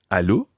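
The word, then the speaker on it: allô: on the phone in French instead you say Aloo hello and make sure you send very French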